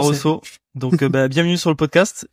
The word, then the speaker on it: Barroso: T'as tout bien prononcé. Barroso.